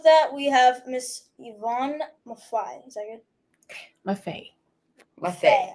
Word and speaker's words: Maffei: we have Miss Ivon Mafi is that good maet ma okay it rhymes with Buffet like the food buffet ma Buffet easy